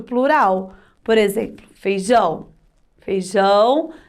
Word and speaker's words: feijão: Mas quando eu falo feijão, o som do ão dá aquela potência, né? Um som forte, ó. Ão é a sílaba tônica, de tão forte que o tio deixa a sílaba.